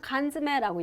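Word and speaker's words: 缶詰: 어, 통조림을 우리가 뭐라고 하냐면 간즈매라고 얘기를 해요. 원래 지매인데 연탁돼서 이렇게 해서 부드럽게 발음이 된다고 보시면 되고요.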